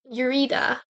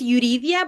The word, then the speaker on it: Yuridia: time we're gonna have a testimony from Yurida. Go ahead. Hi. Well, it's pronounced Yuridia, but it's okay. Yuri works.